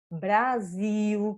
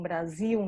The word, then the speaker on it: Brasil: Vai acontecer com mal, mel, Brasil, que a gente já deve ter escutado muitas vezes que as pessoas falam Brasil, não falam Brasil, né? Brasil.